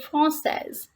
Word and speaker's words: française: The pronunciation of this word in feminine form is française. Elle est française. She is French. And in masculine, we pronounce it like français.